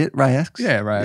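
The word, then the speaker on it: RY X: Rye X?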